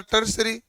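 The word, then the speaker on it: tertiary: अब इसको प्रोनाउंसिएशन तो होता है टर्सरी, कई जगह नाम लिखा जाता है टर्सरी संयोजन भी।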